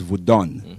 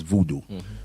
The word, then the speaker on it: Vodun: And the proper name is Vodun, which is mispronounced as voodoo.